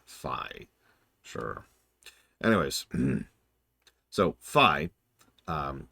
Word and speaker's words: Fi: of the concept of fi which is apparently how it's pronounced I had to look that up I've been calling her fee for literal years but apparently it is fi sure anyways so fi